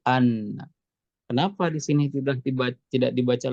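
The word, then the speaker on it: أنّ: ada Anna Anna Anna ini dibacanya dengan fathah tidak Inna ya tapi Anna Kenapa di sini tidak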